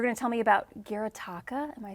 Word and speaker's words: Gyotaku: You're going to tell me about Gyotaku? Am I saying that correctly, Gil? Gyotaku.